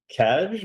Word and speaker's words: Kaj: Kaj, is that how you say it? It's pronounced Kai.